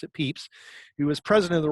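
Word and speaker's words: Pepys: even though it was spelled pep is apparently pronounced at peeps he was president of the royal society of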